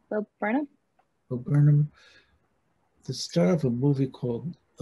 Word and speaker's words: Bo Burnham: Today, I'd kind of be fun to have guys like, is it Bo Burnham? Is that how you pronounce his name? Yeah, Bo Burnham.